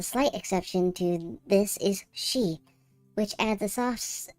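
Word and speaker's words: し: She. The consonant followed by a vowel and makes up the single syllable pronounced she.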